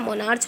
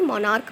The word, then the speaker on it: monarch: अब यहाँ देखिए MONARCH, तो यहाँ मोनार्च नहीं मोनार्क पढ़ा जाएगा, क्या पढ़ा जाएगा, मोनार्क, राजा को कहते हैं मोनार्क।